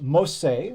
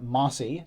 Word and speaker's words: Mossi: a cavalry civilization yes that is pronounced most say rather than mossy at least based on the sources that i found without any further ado